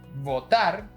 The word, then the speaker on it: votar: Again, it's a very Latin American thing to pronounce both words identically, but the right pronunciation should stress the type of B you're using. Votar and botar.